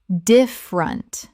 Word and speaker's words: different: Different. Native speakers reduce this to 2 syllables in normal conversation.